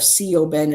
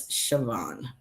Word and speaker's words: Siobhan: Instead of co Ben, it's Siobhan. Let's see.